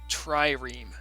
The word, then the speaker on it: trireme: That is a barbarian trireme. That's how you pronounce it, by the way, guys.